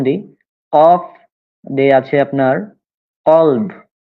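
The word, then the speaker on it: قلب: কালব, হ্যাঁ, এই যে কালব যদি দেন কাফ, কালব, কালব মানে হচ্ছে কুত্তা। তাহলে যদি আপনি কফের উপরে কা উচ্চারণ করিয়ে এভাবে বলেন, যদি কালব বলেন তাহলে সেটা হয়ে যাবে কুত্তা হয়ে যাবে। হ্যাঁ, কিন্তু মূলত সেটা হবে কলব।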